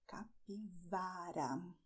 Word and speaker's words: capivara: And "CAPIVARA": this is a very nice animal that you find in South America, "CAPIVARA", with the V sound.